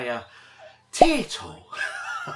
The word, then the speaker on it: Taito: there rainbow Islands by a tile everyone always says you pronounce it wrong OG so now I just pronounce it like the Irish crisp and everyone seems happy